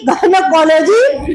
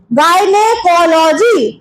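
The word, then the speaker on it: gynecology: का इलाज का जो डिपार्टमेंट है उसको गनकोलॉजी गयनेकोलॉजी डिपार्टमेंट बोलते हैं। ठीक है? इसका स्पेलिंग बोलना पड़ेगा।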